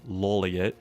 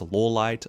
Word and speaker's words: Lawliet: Some fans pronounce it as Lawliet, others pronounce it as Lawliet, but most fans and I myself pronounce L's last name as Lawliet.